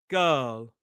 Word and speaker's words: girl: Girl. It's not word, it's word. It's d. Word. D. We don't pronounce the R in dirt either, but it is the sound.